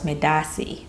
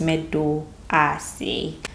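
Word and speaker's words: medaase: I actually pronounce it as medase, but it's medoase.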